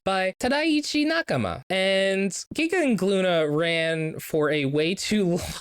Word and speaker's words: Glüna: Glüna, which is spelled as Gluna or Gluna, but it's a silent G and we cannot pronounce the umlaut.